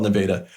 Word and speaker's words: Nevada: And it's spelled Nevada, but yeah, it's spelled Nevada, but in Iowa, we call it Nevada.